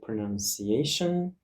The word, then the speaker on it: pronunciation: Let's check another word, for example, pronunciation. You see that this word has five syllables, pronunciation, and the syllables are divided using dots. Pronunciation. And the stress mark is on the fourth syllable.